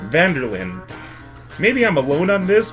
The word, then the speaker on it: van der Linde: is van der Linde it's three separate words but you pronounce it like one big word van der Lyn maybe I'm alone on